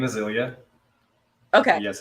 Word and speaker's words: Ilya: it it's all good hi my name is Ilya okay yes it's a just a common common